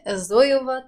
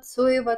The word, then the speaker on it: Zoeva: посвящена кисточкам немецкого бренда Зоева, Цоева, Цоева, кто как называет. На самом деле говорить Зоева это неправильно, потому что в немецком Z читается как Ц, соответственно Цоева или Цоева уже будет звучать гораздо-гораздо правильнее.